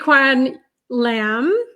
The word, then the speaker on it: Tsz-Kwan Lam: Tsz-Kwan Lam.